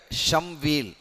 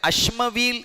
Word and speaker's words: ஷம்வீல்: அவருடைய பெயர் ஷம்வீல். அவருடைய பெயர் அஷ்மவீல் என்றும் ஷம்வீல் என்றும் 2 வகையாகவும் சொல்லப்படும். அஷ்மவீல் என்றும் சொல்லப்படுவது உண்டு, ஷம்வீல் என்றும் சொல்லப்படுவது உண்டு. நாம் ஷம்வீல் என்றே குறிப்பிடுவோம். 2 வகையாகவும் குறிப்பிட்டாலும் சரிதான்.